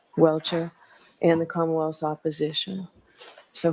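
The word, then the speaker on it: Welcher: How do you pronounce his name, Mr. Bernard? Welchure. Welchure.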